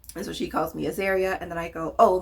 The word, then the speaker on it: Azaria: Hey, I'm Azaria. And she immediately pronounced my name wrong. Immediately. She's calling me Azaria.